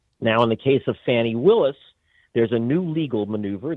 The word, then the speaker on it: Fani Willis: And so what Fani, I should say, I've been mispronouncing her name, and I do apologize. It's Fani Willis.